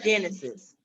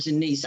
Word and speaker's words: Genesis: Sorry, friend, you pronounce her name Genesis. Oh, I'm sorry. Say it again. Genesis. Genesis. I said Janice.